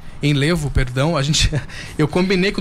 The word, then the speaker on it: Enlevo: Doutor, ele é diretor da clínica Enlevo, né, que é Enlevo, perdão. Eu combinei com o doutor antes, falei, não, eu vou combinar a pronúncia certinha, a gente chega na hora e acaba falando errado, mas tudo bem.